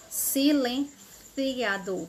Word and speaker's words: silenciador: hora de pronunciar safar-se e o silenciador silenciador o ou silenciador ou cê com i silenciador na Espanha silenciador Tá certo porque é